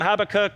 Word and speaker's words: Habakkuk: Just turn to the person beside you actually and tell them how you pronounce this name. All right, yeah? Is it Habakkuk?